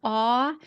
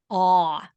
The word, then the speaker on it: awe: to pronounce the word ah it's just ah no other sound it's a one-syllable word and it's almost like you just open your mouth and go ah I want to try